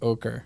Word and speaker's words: Okra: It's supposed to be pronounced ochre.